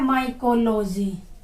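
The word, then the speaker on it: mycology: जैसे आपका है माइकोलॉजी, हम ऐसे बोल रहे हैं ना इसको, माइकोलॉजी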